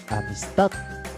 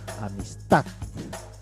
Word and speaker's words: amistad: Un ejemplo, amistad. La primera sílaba A, la segunda sílaba nis, la I, son átonas, porque no tienen intensidad, mientras que la sílaba tónica va a ser la A, amistad, porque va a caer la mayor fuerza de voz, la mayor pronunciación.